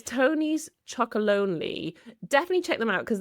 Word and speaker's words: Tony's Chocolonely: There's a company, I don't know if they're in America, but called Tony's Chocolonely. Have you come across them? Oh, I love the name. Yeah, Actually, I said it wrong. It's Tony's Chocolonely.